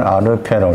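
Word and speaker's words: ἀρχή: 태초라는 헬라어는 아르케라고 읽어요.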